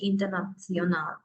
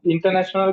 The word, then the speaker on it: international: Deutsch international. Ist das klar? Okay නේ? Deutsch international කියන එක pronunciation එක පොඩ්ඩක් කියන්න. International. International. International. Tion කියන්නේ කියයි. Tion. Okay, Tion. Internation. Ja, international.